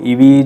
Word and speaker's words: Evee: इस नाम से खैर आप इसको ईवी ही मेरे ख्याल से आप प्रोनाउंस करेंगे सो जिसमें वव c1